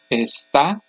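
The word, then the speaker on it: está: written accent for example esta esta when I say the first word the last syllable is the loudest and there's a written accent mark but when I'm saying the second word the next to last syllable is the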